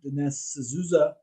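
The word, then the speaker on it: Dinesh D'Souza: watch it um because i do think that dennis azuza that's how you pronounce his name he he does some good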